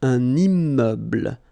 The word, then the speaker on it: un immeuble: So you can see I'm making this little liaison between the two. Un immeuble.